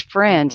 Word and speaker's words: Freund: And my last name is Freund, like a friend, but it's spelled the German way, so it's F R E U N D.